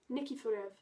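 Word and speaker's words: Nikiforov: I can't pronounce it. Nikiforev. There we go.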